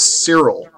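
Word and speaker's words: Psyrel: He says, my name is Cyril. I'll spell it for you here because it's a little weird spelling. It's not Cyril like in Archer. It's P-S-Y-R-E-L.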